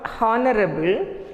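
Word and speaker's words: honourable: It is not honorable, it is honorable. Here, H is silent.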